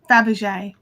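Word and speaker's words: Fabergé: e with a funny sign on it yeah dabjay thank you yeah you're welcome yeah like the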